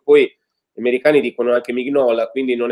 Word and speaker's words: Mignola: gli americani dicono anche Mignola, quindi non è che possiamo fare affidamento sulla pronuncia americana, no? Quindi hai ragione. Anche Mignola dice Mignola, si pronuncerà così.